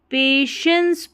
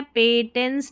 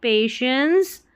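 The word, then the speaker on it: patience: You only need पेशेंस पढ़ना है, पेटेंस नहीं, पेशेंस।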